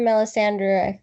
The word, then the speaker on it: Melisandre: well only because um you know you hear Melisandre that's how you pronounce her name you know talk about bringing